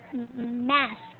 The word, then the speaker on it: mask: Sorry, I wasn't able to get the pronunciation. Mask.